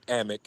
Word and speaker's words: Amick: So, and speaking of the breaking news, this is from a tweet from Sam Amick, if I'm pronouncing his name correctly.